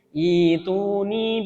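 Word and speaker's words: ائْتُونِي: Ituni bi kitabim min qabli hadza aw atharatin min ilmin in kuntum shadiqin. Ya, seperti itu. Ya. Ini adalah mad badal. Jadi bacanya adalah ituni gitu ya.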